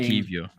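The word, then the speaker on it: Kiwior: No, there's no V in it. Kivior. It's pronounced Kivior.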